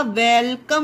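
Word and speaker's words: welcome: मात्रा नहीं होगी, ओके, क्योंकि ये O जो है हमारा, ये O साइलेंट है यहाँ पर, ओके। अब ये जो ME है उसके लिए माँ होगा, और ये E भी साइलेंट है हमारा, तो ये हमारा वेलकम हो गया गाइस।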